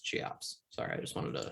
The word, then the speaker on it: Cheops: inside the grand canyon wow um apparently it's pronounced cheops sorry i just wanted to she ops i looked it up that's how it's pronounced